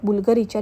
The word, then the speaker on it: Bvlgari: उच्चार कसा करायचा तर प्राचीन लॅटिन वर्णमालेत यु अक्षराच्या ऐवजी व्ही हे अक्षर वापरले जाते त्यामुळे बुलगरी स्पेलिंग लिहिताना यु ऐवजी वी वापरले असले तरी त्याचा उच्चार यु प्रमाणेच होतो 2011 पासून बुलगरीची मालकी